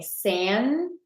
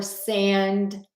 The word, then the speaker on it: sandwich: You have 2 choices. You can say sandwich or sandwich. So you can either say the D or skip the D. whichever you prefer.